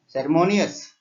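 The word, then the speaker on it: ceremonious: Next సెర్మోనియస్ ఇక్కడ ఎం దగ్గర stress పడుతుంది.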